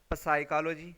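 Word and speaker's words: psychology: Okay, अब ये देखिए साइकोलॉजी जो है इसमें इसको अगर हम लेटर की बेस पे पढ़ें तो क्या बनेगा साइकोलॉजी, लेकिन हम इसे क्या पढ़ते हैं साइकोलॉजी, यानी पी क्या है साइलेंट है। सो यहाँ पे जो स्टार्ट में पी लेटर है ये पी का साउंड नहीं दे रहा है, इसमें साउंड कौन सा आ रहा है यहाँ पे एस का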